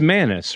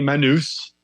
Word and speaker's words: Manous: But none of the DJs or, radio show hosts could pronounce my last name. So it's Manous, right?